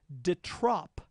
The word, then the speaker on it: de trop: We have to pronounce it de trop so that it rhymes with the top.